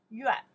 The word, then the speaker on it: 院: This one pronounced yuan.